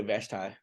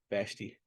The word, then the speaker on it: Vashti: come before him right some people say vashtai vashti just put it how you want to pronounce it um and he refuses